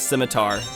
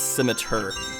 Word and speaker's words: scimitar: But I also looked up how to pronounce their sword names, because I always thought it was scimitar, but I guess it's scimitar. It's a ER instead of like an AR pronunciation, which, alright, it works.